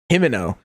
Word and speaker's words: Himino: Himino. God, I I think of Pimento. I'm like, okay, what what rhymes with Pimento? Himino.